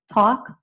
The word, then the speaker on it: talk: I don't pronounce the l. So it's just a talk walk.